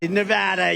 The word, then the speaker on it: Nevada: And you always have to say it correctly. Nevada. You got to call it Nevada.